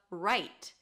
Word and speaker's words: write: You don't really hear the W when it's before an R.